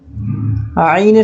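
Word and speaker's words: عين: এরপরে আমরা আইনের সাথে পরিচিত হব। এখন যে হরফটি দেখতে পাচ্ছেন, এই হরফটির নাম হলো আইন। আইন উচ্চারণের নিয়মটি হলো কণ্ঠনালীর মধ্যভাগ হতে নির্গত হয়।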